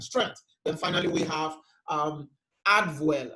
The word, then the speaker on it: Adwell: Then finally, we have Adwell. We call it Adwell, but it's actually it's a German word pronounced Advil, okay? But Adwell because it's an addition to wellness.